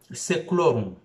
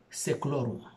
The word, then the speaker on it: Seclorum: Si vous voulez, parce qu'en latin il y a deux formes de prononciation, je peux dire Novus Ordo Seclorum. Seclorum. Seclorum. Pas Seclorum, mais Seclorum.